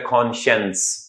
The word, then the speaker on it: conscience: और एक होता है कॉन्शियंस। स्पेलिंग याद करने का सादा सा फार्मूला बताता हूं आपको मैं, कॉन साइंस, यही साइंस वाला जो साइंस होता है SCIENC, कॉन साइंस। प्रोनाउंस कैसे करेंगे, कॉन्शियंस। तो राइट ऑप्शन आपका चार्ली।